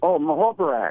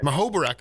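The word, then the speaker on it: Muhoberac: Larry how do you pronounce his last name? Larry. Mahobarak. Mahobarak.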